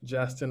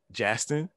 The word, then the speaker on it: Jastin: Please welcome Jastin.